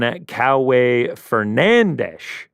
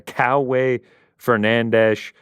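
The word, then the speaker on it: Kauê Fernandes: Guram Kuta Taladze taking on Coway Fernandes. That's according to Bruce Buffer on the pronunciation there. Coway Fernandes.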